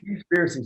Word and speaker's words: Seaspiracy: Seaspiracy. So it's spelled like SEA. Yeah.